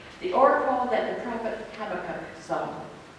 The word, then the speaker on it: Habakkuk: But according to Google, it's pronounced Habakkuk.